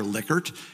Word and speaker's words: Likert: my statistics professor said I know dr. Likert and it does not like hurt so anyways I sort